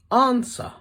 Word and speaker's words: answer: it just packed up silent W answer wreath wreck sword wrong right can you think of